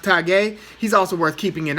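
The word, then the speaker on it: Tagoe: It's spelled Tago, but he's from Ghana. I think it's pronounced Tagué.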